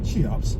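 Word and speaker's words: CHEOPS: The observations reported in the journal Nature were made using the European Space Ay's Chops, pronounced Chaops, spacecraft.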